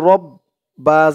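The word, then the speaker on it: ربي: পরে খালি আলিফ ইয়া র দিয়ে বা ধরবে র বা জবর রব বা বি রব্বি রব্বি ইয়া রব্বি ইয়া রব্বি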